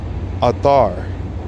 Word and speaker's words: Athar: Athar. Prayer is Athar. A-T-H-A-R. Athar. Like Arthur.